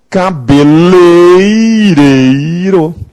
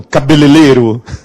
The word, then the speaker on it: cabeleireiro: Ferreiro com pão padeiro com a cabeleira cabeleireiro Essa é forma correta e nós já ouvimos uma outra muito pior vocês já ouviram cabelereiro cabelereiro é Tenebroso outro dia tá na